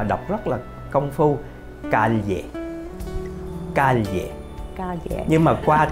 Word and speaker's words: calle: gốc á, họ đọc rất là công phu, calle, calle, calle. Nhưng mà qua tới Mễ đó, họ đơn giản hóa đi, họ kêu calle.